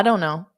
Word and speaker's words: don't know: you're welcome to I don't know don't know don't know so notice how unstressed that is don't know don't know